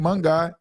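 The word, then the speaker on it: Monangai: Monaghan.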